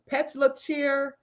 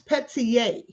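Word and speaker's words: Pelletier: I think I kept calling him John Petzletier, but it's Petier. I think it's Petier. Yeah, Petier, because it's a French name.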